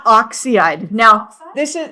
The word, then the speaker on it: oxide: It's not oxide. Now, this is it's oxide and they always have two syllables.